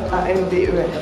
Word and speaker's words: Amber: Alors ça se dit Amber en fait, et pas Amber, ça s'écrit Amber, A-M-B-E-R, mais ça se dit Amber.